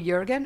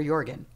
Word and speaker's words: Jorgen: you like Jurgen oh Jurgen is correct okay cool I was worried I was wrong yeah it's a y with a it's a j pronounced Y no it's a it's